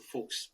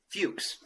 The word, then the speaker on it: Fuchs: the accent it's a folks okay in America we would say Fuchs okay Fuchs rhymes with dukes so they called me